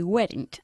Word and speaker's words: weren't: No, they weren't. Okay, Annie, you need to say weren't. Weren't. Not weren't. Okay, Okay. weren't. Weren't. They were, they weren't. No Oh. cambia, ¿vale? Es una sola sílaba.